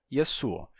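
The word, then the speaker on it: يسوع: então Yeshua fica yasuo assim é como os cristãos árabes pronunciam o nome de Jesus yasua que é a forma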